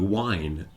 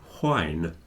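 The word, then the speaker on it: whine: w i n e because they sound exactly the same at least for English speakers if you go to Scotland they'll they'll say whne and you'll hear the H okay but in England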